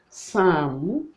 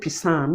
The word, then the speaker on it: psalm: written the word like sam sam you know do this this consonants the cluster body is not articulated the p sound is not articulated you don't say psalm you say sound so this is exceptional